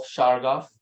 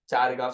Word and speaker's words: Chargaff: ने यूज किया था प्रिंसिपल्स ऑफ शारगाफ, शराफ जिसको तुम बोलते हो, चारगाफ स्पेलिंग है उसका, CHARGAFF, उसने 2 लोग का प्रिंसिपल और अपना बना।